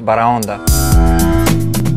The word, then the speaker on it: Baraonda: what's the name of this restaurant it's pronounced barranda baronda italian cafe caters to people with a tasteful